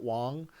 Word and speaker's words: Wang: It says Wang. I think it's pronounced Wong. It's Garrett Wong.